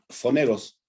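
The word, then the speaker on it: πονηρός: griego original, el foneros, se escribe como PH, y se pronuncia foneros, ¿verdad? Y lo puedes escribir como poneros, pero ese foneros se traduce como el adversario o alguien que pone dificultades.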